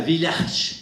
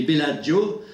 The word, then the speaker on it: Bellagio: se réunissait en autriche et en italie à village c'est pas pour ça se prononce village les bellagio pour discuter de la question thématique connecte rouille